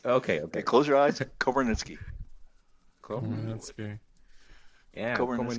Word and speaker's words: Komarnyckyj: Komarnyckyj. Dig it. Say it again. Komarnyckyj.